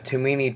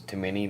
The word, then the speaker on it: Tomini: a chance here the tomini tang i think it's how it's name pronounces too many that sausage it alright